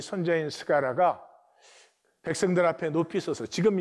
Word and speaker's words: 스가랴: 그러므로 의인 아벨의 피로부터 성전과 제단 사이에 너희가 죽인 바라가의 아들 스가랴가 예수님 당시에는 그 발음이 사가라로 발음을 했죠.